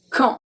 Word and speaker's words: quand: The first one we have quand, quand, quand. So we don't pronounce the U, we don't pronounce the D, and AN makes the sound en.